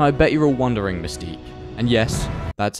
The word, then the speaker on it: Mystiqux: And I bet you're all wondering, Mystiqux. And yes, that's how you pronounce it.